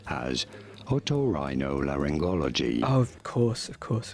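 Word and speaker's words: otorhinolaryngology: tuned in subcribers how do you go about pronouncing it in British English this is said as otorhinolaringology oh of course of course of course of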